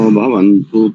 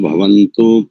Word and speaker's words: भवतु: व भाती सन्ना पर्जन्य भवंतु प्रजाभ्य सन्ना क्षेत्र पल संभ बढ़िया अच्छा प्रयास है दूसरी पंक्ति में देखो वहां पर भवंतु नहीं है केवल भवतु भवतु भवतु ठीक ठीक